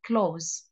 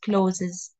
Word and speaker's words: clothes: we uh we say close Okay close I will write it on the chat um this word it's not closes okay um it's pronounced as close close not closes okay and thank you